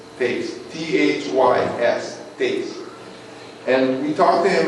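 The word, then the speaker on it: Thys: His name is Tace, T-H-Y-S, Tace, and we talked to him, and where are you guys staying?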